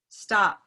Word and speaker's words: stop: the word like um stop right now stop so these consonants that are at the end of a word will actually be stopped like stop everyone try